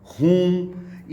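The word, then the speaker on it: whom: है हुज और उसका ऑब्जेक्ट हुआ करता है हुम। यहाँ पर आपका W साइलेंट हो जाता है।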